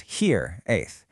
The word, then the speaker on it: hiraeth: Here, it's pronounced here a and it's so much more than just being homesick.